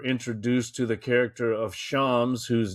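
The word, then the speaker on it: شمس: I think they pronounce it a bit more like shams.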